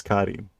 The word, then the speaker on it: Karin: Is there another series, another manga with a cat named Korin? Shidai. Is this dependent upon? No, there's no option in the pronunciation there. It's ka, not ko.